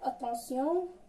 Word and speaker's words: attention: ايون كتنطق فاش كتكون مع تي ما كتقراش تيون، كتقرا سيون. تي مع ايون كتقرا سيون، كتكون غالبا في الاخر تاع الكلمه بحال اتونسيون attention, action, mention.